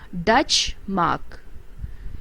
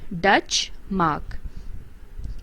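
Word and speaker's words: Deutsche Mark: currency of germany and it is pronounced dutch mark it is spells d e u t s c h e dutch mark and the next one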